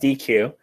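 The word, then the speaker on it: deque: for double ended queue sometimes you'll hear it pronounced DQ um I prefer deck because I like to think of it mentally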